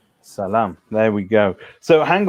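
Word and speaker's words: ሰላም: Salam. Salam.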